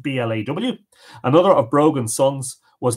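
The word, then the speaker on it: Bladh: of the Cooley mountains from blah BL ADH pronounced BL aw another of Brogan songs was named Shelley of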